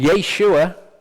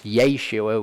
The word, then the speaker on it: Yeshua: to the ground and Yeshua which is actually how you sure his name is pronounced it's Yeshua we really do need to get into the habit of saying that Yeshua and Bonnie and